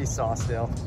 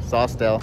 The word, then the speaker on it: Saucedale: It's just gonna be Sawstel. Yeah, Sawstel. Yeah. So you want to spell it out for them just in case?